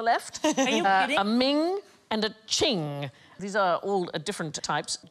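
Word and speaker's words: Qing: will get there eventually it rhymes with bling thing I like thing most expensive Chinese item ever sold at auction is a Ching vars it went for 43 million pounds in 2010.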